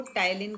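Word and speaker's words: ptyalin: जब आप अंग्रेजी में टाइलिन पढ़ेंगे तो आपको पी साइलेंट रखना है। इसको टाइलिन कहते हैं, लेकिन जब लिखेंगे तो पी आगे ज़रूर लगाएंगे।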